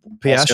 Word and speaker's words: Piastri: Didn't our Aussie boy – what's his – Piastri, Oscar, how do you say Oscar it?